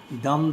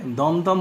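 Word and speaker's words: Dum-dum: তার মধ্যে ইম্পর্টেন্ট একটা হলো দাম বুলেট। উচ্চারণটা হলো DUM, দেখা আছে দাম বুলেট, বাট উচ্চারণটা হবে দমদম বুলেট। আমরা যদি ইংরেজি বলা হয় দাম, বাট এটা দমদম।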